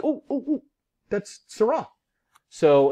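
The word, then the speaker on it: Seurat: was on google doodle i'm like oh that's syrah so it's a c-u-r-a-t um pronounced surah and he is known as what's a pointillist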